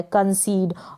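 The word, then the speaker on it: concede: कंसीड का मतलब हो गया मान लेना, और लास्ट में ये जो ई आ रहा है उसका उच्चारण नहीं हो रहा है।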